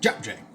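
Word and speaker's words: 잡채: That's how you pronounce it, JapChae.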